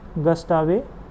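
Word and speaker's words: Gustave: तो WRI जो है इसका फॉर्मेशन ईयर हो जाएगा 1992 और इसके जो फाउंडर हैं वो हैं जेम्स गस्टावे। या गस्टेव जो आप प्रोनाउंस कर लें, स्पेट, SPETH।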